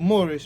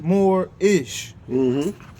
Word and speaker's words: Moorish: It's spelled Moorish, but we know it's more-ish.